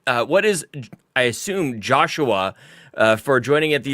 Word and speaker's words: Joshua: with my wife yesterday a name that looks like it should be two syllables but it's three it sneaks one in there you know Joshua mhm carpo Gaming's on